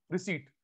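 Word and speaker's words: receipt: जब रिसीट, फिर रिसिप्ट बोल रहे हैं, रिसीट पी साइलेंट होता है।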